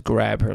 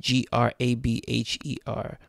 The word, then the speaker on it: Grabher: And it literally is Grabher, like it's spelled G-R-A-B-H-E-R. Grabher.